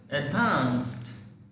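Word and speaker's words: advanced: এডভান্স এডভান্সড এডভান্স এইটা হবে এইটা এডভান্সড দেখো এখানে ডি আছে ডি এর উচ্চারণটা কিন্তু টি হয়ে যাচ্ছে এখানে এখানে এই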